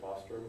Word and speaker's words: Bostrom: Well, and that, and there's a lot of assumptions built into, I always mispronounce Bostrom's name, right? How do you say it again? Is it Bostrom?